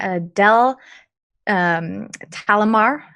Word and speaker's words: Adele Talimar: playing so I am playing Adele talimar is how you pronounce her name she is a shut